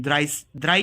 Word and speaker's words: drei: द्राई कहते हैं.